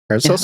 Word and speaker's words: Paracelsus: Paracelsus.